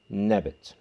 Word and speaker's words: Nebet: When this sign is added to it, it becomes feminine and therefore means lady, pronounced Nebet.